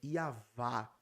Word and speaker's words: Yahweh: Então, Yahweh antes de Israel, que até a pronúncia, né, é Yavá.